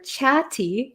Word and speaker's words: chatty: um by the way the pronunciation here for chatti chatti so there's two T's here and they're kind of sandwiched in between an A and A Y so we have these two vowels here two vowel sounds so